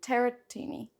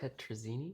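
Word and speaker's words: tetrazzini: Chicken tarotini. Is that how you say it? Tetrazini.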